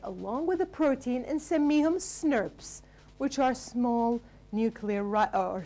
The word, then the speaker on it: snRNP: We call it SNRPs. That's how you pronounce it, but actually the way you should write it is this way.